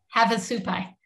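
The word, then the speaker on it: Havasupai: said it wrong how do you say it have a supply have a supply thank you so where to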